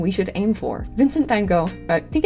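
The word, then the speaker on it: Van Gogh: Vincent Van Go. I think it's actually Van Hal.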